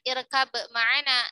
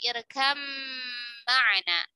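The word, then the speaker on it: ارْكَبْ مَعَنَا: Jadi bukan irkab ma'ana, tetapi irkam ma'ana. Ba-nya melebur sempurna ke huruf mim.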